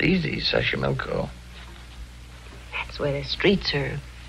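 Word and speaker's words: Xochimilco: Sashimilko. Okay. So you pronounce it better than I do. It's easy, Sashimilko.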